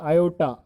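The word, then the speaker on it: aorta: तो अगर क्वेश्चन पूछ ले कि सर लार्जेस्ट आर्टरी कौन सी है, तो लार्जेस्ट आर्टरी है आयोटा, आर साइलेंट है बच्चों इसमें, ठीक है?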